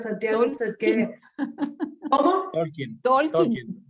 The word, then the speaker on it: Tolkien: era ellos, tanto Tolkien, no sé cómo se pronuncia, Santiago, usted que, ¿cómo? Tolkien. Tolkien, ok.